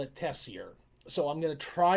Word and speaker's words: Tessier: I have always called it Tessier, using the more French pronunciation. My understanding is that locals in Saskatchewan call it Tessier. So I'm going to try and remember to call it Tessier.